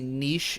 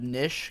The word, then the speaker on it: niche: like now I've been trying to say niche instead of nish cuz people complain every time I say nish that's just how I